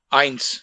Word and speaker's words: eins: start one by one first is ions please pronounce eins yeah irons second is zoy why yeah then